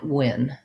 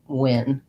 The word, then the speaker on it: Nguyen: I think that you can say it like Win.